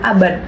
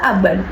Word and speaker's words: abad: Begitu pula dengan kata abad. Kata abad jarang sekali diucapkan pada mahasiswa. Seringkali kita mengucapkan kata abad. Jadi bunyi deh berubah menjadi bunyi teh gitu. Sehingga abad berubah menjadi abad. Seperti itu.